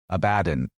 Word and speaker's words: Abaddon: So, just swap that R at the end with an N, and you have Ab-a-don, Abaddon, which we covered pretty thoroughly